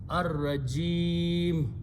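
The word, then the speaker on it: الرَّجِيم: So you are pronouncing this as sukoon on the meme, ar-rajim.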